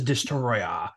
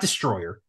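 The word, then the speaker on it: Destoroyah: that movie Godzilla versus destroya by the way you got to say it like that it's not Destroyer it's spelled destroy so that dude I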